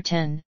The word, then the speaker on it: X: the letter X in Mac OS X's name refers to the number 10 a Roman numeral and Apple has stated that it should be pronounced 10 in this context however it is also